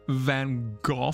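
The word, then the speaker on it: Van Gogh: I think you'll find it's pronounced Van Go.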